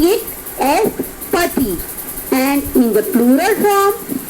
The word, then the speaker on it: petit: Okay, so pati, masculine plural, but here we are adding S at the end of this adjective and we are not changing the pronunciation of it.